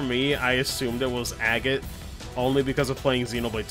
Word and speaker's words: Agate: of the blades and her name was agate again you know just like that so i already had my bout of mispronunciation prior watch out guys leave it to me it's actually a gate well that's actually